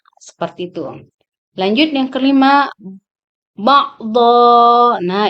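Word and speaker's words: بَعْضًا: Lanjut yang kelima, ba'dha. Nah, ini merupakan mad iwad yang diwakafkan. Jadi dibacanya dha, jangan dibaca don. Jadi ba'dukum ba'dha.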